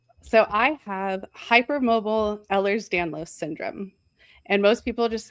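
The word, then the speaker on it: Ehlers-Danlos: How is it pronounced? So, I have hyper mobile Ellers's Danlos syndrome and most people just say hyper mobile EDS because that's a lot easier.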